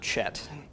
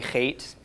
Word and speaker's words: Het: okay that's the Zion eight-letter is hate as I mentioned last week this is fate and not Chet the spelling is unfortunate we don't have English letters that represent the sound the hate makes it is a cup